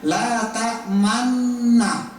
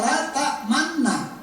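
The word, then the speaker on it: لَا تَأْمَنَّا: Contoh dalam Al-Qur'an ada la tamanna kan tulisannya biasa la tamanna tapi dalam ilmunya harus meem monyongkan mulutnya kan.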